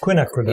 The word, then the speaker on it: Quinacridone: I can never actually say that word. Quinacridone. Yep. That's how you say it.